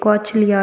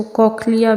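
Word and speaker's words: cochlea: Present हैं और एक कॉचलिया, या कुछ लोग इसको कॉकलिया भी प्रोनाउंस करते हैं, जो भी आप प्रोनाउंस करना चाहें।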